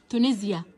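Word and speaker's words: Tunisia: الاس هنا بتتنطق كأنها بساوند الزد علشان بين حرفين متحركين، شايفين حرف الاي قبلها حرف الاي ايه بعدها. تونسيا دولة تونس.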